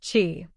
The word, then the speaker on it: Qi: charging pads in its stores another standard isqi pronounced Chi it is a wireless charging standard developed by